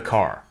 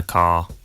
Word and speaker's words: car: Notice that the final R sound is not pronounced in British English. Father ends in a simple schwa vowel, like father. And in car, the vowel sound is lengthened in place of the R sound.